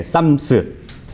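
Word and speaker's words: Psalms: 그래가지고 이 시편이라는 게 영어로 보면은 이제 쌈스잖아요. 그죠? 예, 이 피자는 묵음이니까 예, 쌈스.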